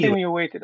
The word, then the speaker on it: insinuated: Well, I think when you're saying insinuated, you're saying insinuated. I think Pachu was doing that too, but it's really insinuated. You've got to put all the power on the word sin.